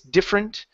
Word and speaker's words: different: uh interested and different different is the same way we don't pronounce that ER it's different uh you know difference differ okay okay so those uh with those words difference different and difference we don't pronounce differ we don't pronounce the vow or the the uh um oh I just lost my mind here the syllable we don't pronounce the syllable okay all right very